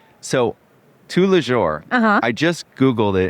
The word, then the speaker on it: Tous les Jours: So, tous les jours. Oh, am I pronouncing it right?